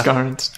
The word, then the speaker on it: Garnt: And his name is spelled like Grant, but it's just you invert the A and the R and it's Garnt.